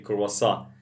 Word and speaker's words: croissant: And here, but we say quaso. It's the same. Some people say croissant and croissant. This is a French word.